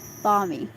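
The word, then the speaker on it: balmy: fighting Seascape Bal me I said Bal me bomy bomy bmy L the L is silent barmy the ocean could be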